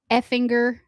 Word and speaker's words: Effinger: It says the name effinger is pronounced Effinger. Sure. Effinger. Oh, I got it. Rhyming with singer.